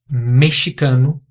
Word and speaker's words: mexicano: O país México e a nacionalidade mexicano são pronunciados com som de dois R's em português. México, mexicano. Mexico é só em inglês. Aqui é México, mexicano.